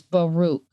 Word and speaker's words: Baruch: Yeah, Baruch means blessed, but in Arabic it's pronounced Barak, but in Hebrew it's Baruch.